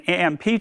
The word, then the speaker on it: AMMP: And based on this feedback, we recently evolved AMP as an AMP to become the Azure Migration and Modernization Program, AMMP, still pronounced as AMP, with the support for app modernization scenarios.